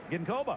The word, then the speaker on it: Ginkoba: How's that pronounced? Ginkoba.